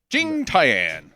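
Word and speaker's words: 景甜: just be uh Stupid Americans and call it Jing tyan Jing Tian that's how it's pronounced because we're gonna it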